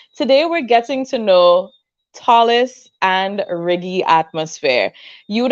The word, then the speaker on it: Tallis: upstage and this is Talis Tallis I'm sorry Tallis I'm pronouncing it very Grenadian right tall man like tall man that makes sense all